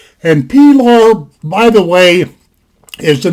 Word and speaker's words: Pilar: stainless designation it's a box nas design belar p lar that's how it's pronounced and p law by the way is the name of ernest